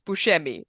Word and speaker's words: Buscemi: But it's the same sort of thing where it's like, if you're in Italy, it's Buscemi. That is how it's Hmm.